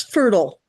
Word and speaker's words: Fertile: It's fertile. Fertile. They pronounce Fertile. it fertile. Fertile, like Yeah. like Myrtle.